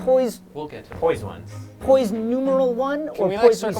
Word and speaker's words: PoisOnes: Like, poise We'll get to poised ones. numeral one can or we poise circle back to the spell it waivers out? though, real quick? Poised ones. Why wouldn't you just say like poisons?